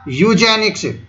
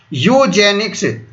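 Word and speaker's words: Eugenics: जनिक्स क्या हो जाएगा यू जनिक्स याद रखना यू जनिक्स और अंग्रेजी में देखोगे तो यू की जगह ई आएगा ई साइलेंट होता है यहां पर ठीक है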